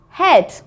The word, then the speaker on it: head: EA says eh. So let's have a look at the vocabulary. The first one is feather. Feather. Bread. Bread. Head. Head. And heavy. Heavy. Okay, so feather, bread, head, heavy. They all make the same sound, air, but they're all spelt with an E-A. We just don't hear the A, just the E.